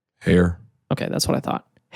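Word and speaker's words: Haer: him by the name of Norman hair we pronounce this h a e r r hair okay that's what I thought hair Norman hair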